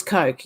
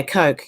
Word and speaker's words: Koch: It was Coke. Yeah. I would have, in Australia, we'd probably pronounce that Kosh. I don't know. Even though it's a CH. But yeah, Coke.